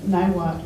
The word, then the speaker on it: Niwot: And also there's a small town by the name of Niwot, which is a mispronunciation of Nawat, which is left hand in Arapaho.